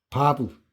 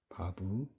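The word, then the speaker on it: ו: 그다음에 아 흐려놓 바브 바브 이렇게 생겼습니다.이 막대기 같이 생긴 여기 바부입니다.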